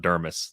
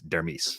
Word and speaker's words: Dermis: for sure it's not it's not dermis like thermos it's dermis that's i need to